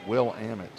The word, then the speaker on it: Willamette: to say ferbet from Willamette but understand it's pronounced will Amit he's from St Louis Missouri he's one for